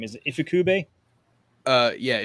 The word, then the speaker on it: Ifukube: Is it Ifukube? Yeah, Ifukube.